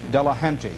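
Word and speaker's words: Delahanty: Delahunty.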